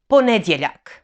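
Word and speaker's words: ponedjeljak: croatian starting with monday so monday is ponedyalak i will say it slowly po ned now in this name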